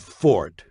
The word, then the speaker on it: forte: one the english word fort spelled f-o-r-t-e and meaning specialty or strong point is not pronounced forte got that it's pronounced fort the italian word forte